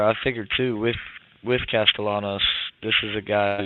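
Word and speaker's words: Castellanos: drive here to start how do you pronounce Boston College the quter back's last name Thomas castalanos that's what I figured but I was saying castanos I was like what that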